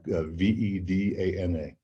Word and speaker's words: Vedana: And it's spelled like V-E-D-A-N-A, Vedana. Or in Sanskrit, you don't pronounce the V in the front, so it's like wa, like Vedana.